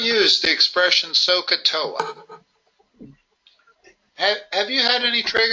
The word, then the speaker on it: SOHCAHTOA: I pronounce it Sohcahtoa, like you're going to soak your big toes. Sohcahtoa.